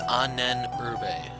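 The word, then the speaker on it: Ahnenerbe: So, off camera, I went ahead and looked up what Anurbe is. It's Anenurbe. That's the pronunciation for it.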